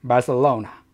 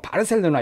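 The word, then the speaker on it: Barcelona: 마서 와우나 그래서 빨 4 오후 나 이렇게 발음이 심장에서 is 람 말사 오나 말씀 써온 이렇게 하면 된다는거 기획실 좋겠습니다 이렇게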